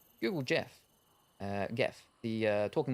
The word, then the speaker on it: Gef: the creature declared that his name was geff pronounced Jeff and that he was